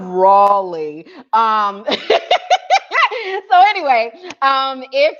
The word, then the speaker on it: Raleigh: bbg members out of riley out of our riley um group so um that did i say it wrong i'm sorry yes how does one see raleigh so out of rawley um so anyway um